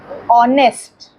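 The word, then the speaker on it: honest: हम यस फॉर an example our ऑनेस्ट इस सब में एच साइलेंट [नाक से की जाने वाली आवाज़] है।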